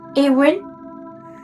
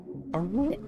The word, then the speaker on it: Arwen: There'll be that constant RP thing of Awin. No, like Arwin. It's Awin. Oh, sorry. It's okay. Arwen?